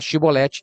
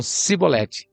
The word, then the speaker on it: Shibolete: Eles não conseguiam pronunciar Shibolete. Eles falavam, ó, em vez de falar Shibolete, eles falavam Sibolete.